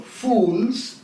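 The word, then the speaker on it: Fowles: is a book by John fools it's not spent f-o-o-l-s it is spelled f-o-w-l-e-s John fools his book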